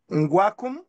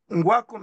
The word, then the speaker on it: Ngwakum: de l'architecte Édouard, comme Édouard en français, Din, s'écrit D-I-N. Nous avons aussi parlé du docteur Paul Ngwakum. Paul Ngwakum s'appelle N-G-W-A-K-U-M.